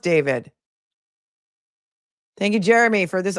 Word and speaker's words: D4vd: He pronounces it David. It's pronounced David.